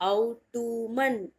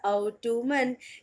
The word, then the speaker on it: autumn: नाउ the next word is AUTUMN, autumn, no, it's not autumn, it's autumn।